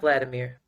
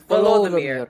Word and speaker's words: Volodymyr: Vladimir? Because not Vladimir. Volodymyr. Yes, Volodymyr.